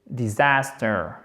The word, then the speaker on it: disaster: Disaster, disaster. Avec un accent tonique sur la deuxième syllabe, disaster, qui est un A court, si je ne m'abuse.